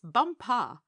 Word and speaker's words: Bumpa: She became his chief wife and is now known out there as the crown princess bumpa. You accent the last syllable.